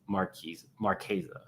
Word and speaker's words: Marchesa: I meant Marchesa.